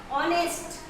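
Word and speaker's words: honest: अगला देखते हैं हम ऑनेस्ट, ये लिखा एच है, जैसा कि हमने वहाँ बात की थी कि उच्चारण में अगर स्वर आ रहा है तो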